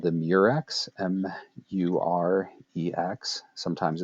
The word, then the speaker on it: murex: The mollusk is called the murex, M-U-R-E-X. Sometimes it's spelled M-Y-R-E-X.